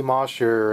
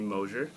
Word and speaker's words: Moser: doing in two days how' you meet Moser and um what yeah how's that relationship like as a when it comes to the music business sure first of all it's moer oh I said it wrong moer